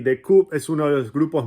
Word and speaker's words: The Coup: Se dice The Coup, la P no se pronuncia.